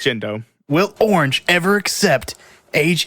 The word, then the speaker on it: Gendo: name right oh no his name is jindo it does a e it's jindo will orange ever accept